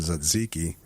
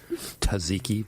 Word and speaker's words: tzatziki: So first of all, how do you actually properly pronounce tzatziki, which is how I say it? Tzatziki? Tzatziki. Yeah. Paul, make note. Kill the T.